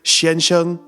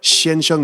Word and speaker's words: 先生: saying that together let's practice saying the word Shan Hsiung or Shinjo two times together Shan Shan Shan Shan do you remember what Shan Hsiung means it means mr.